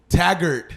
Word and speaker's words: Taggart: Taggart. It's Taggart. You know how I say it, Taggart? Oh, a lot of people do. It's okay. Yeah, It's Taggart. all right. Taggart.